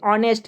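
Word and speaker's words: honest: ठीक है, इस तरह से आप जैसे ऑनेस्ट है, ऑनेस्ट के जैसे लिखे ऑनेस्ट, इसमें भी प्रोनाउंसिएशन हो रहा है आपका क्या, अ उच्चारण हो रहा था, एन लगेगा।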